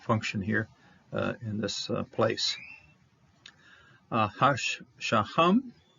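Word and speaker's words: השהם: This is the shoham. This is a shin, sho. This is a holem, and that last syllable here is ham.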